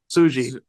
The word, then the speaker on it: Tsuji: Yota Tsuji.